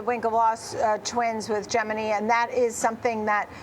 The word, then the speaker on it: Gemini: So, Geminy, um I believe it's pronounced that way, not Gemini, which was founded by